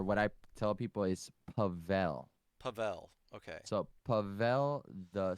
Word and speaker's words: Pavel: or the or what i tell people is pavel pavel okay so pavel the snail pavel the